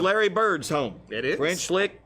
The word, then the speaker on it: French Lick: French Lick, Indiana. That is. So it rhymes with lick.